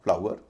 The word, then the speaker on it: FLOUR: FLOUR, इसे कई लोग फ्लोर भी कहते हैं, लेकिन इसमें OUR है, उच्चारण होगा आवर, तो बोला जाएगा फ्लावर, हम बोलते हैं फ्लावर।